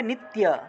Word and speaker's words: নিত্য: আমরা আলাদা করে স্পষ্ট করে লিখি, নিত্য উচ্চারণ হবে নিত্য, নিত ইয়া, নিত ইয়া, এইভাবে নিত্য একসাথে, নিত্য যুক্তা, নিত্য যুক্তা,